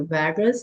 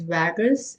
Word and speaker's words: vagus: One is the vagus. This is how we pronounce it. And that is the American pronunciation. Now the British pronunciation is called Wus. So American is vagus and British is Vadus.